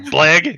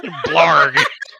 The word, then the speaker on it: Blarg: I gave this guy the simplest, stupidest one-syllable name. We're fine with whatever. Jinro Uldane, but I got Blag. Nope. Blarg.